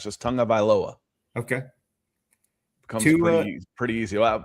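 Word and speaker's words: Tagovailoa: It says it's spelled tag, but you pronounce it tongue. So if you remember that, it's just Tonga Vailoa.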